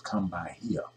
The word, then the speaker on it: Kumbaya: original Hebrew song was Kumbaya said Kumbaya but it was English uh changed into English thing what he said no it really meant is the real pronunciation was come by here no it was Kum